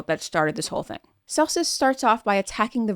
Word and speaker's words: Celsus: by a man named Celsus or Celsus. Now, in Latin, the C is pronounced K and not like an S. So for the audience, for us English speakers, I'll pronounce it Celsus.